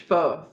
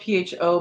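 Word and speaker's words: phở: It's spelled PHO, but I believe, someone correct me if they absolutely know what we're talking about, but I believe it's pronounced pho.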